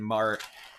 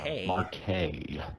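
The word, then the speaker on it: Marquez: makes my life easier that is pronounced Mar by the way uh forget that Z exists Mar Marque so those of you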